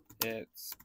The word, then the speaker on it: IT: Theory by the way it's pronounced uh it like the word with a short I it's meant to emphasize